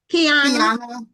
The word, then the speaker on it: Kiana: How do you pronounce Kiana? Kiana Kiana.